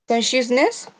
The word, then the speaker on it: consciousness: Consciousness. That one you have to pronounce the like a ch, consciousness, Conscious.